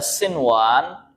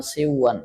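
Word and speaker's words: صنوان: Nah, contohnya qinwan, ada sinwan, ada bunyan, ada dunya. Bukan qiwan bacanya karena dilihat sekilas sama dengan idgham bi gunnah, akhirnya dibaca qiwan, siwan, salah ya. Dia dibaca izhar.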